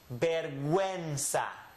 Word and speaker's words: vergüenza: What this is telling us is pronounce the U. Do not let the U be silent.